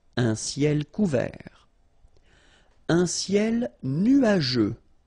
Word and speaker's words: nuageux: Un ciel nuageux. This can be quite tricky, but take the time to nu-a-je. Remember, final X here not pronounced.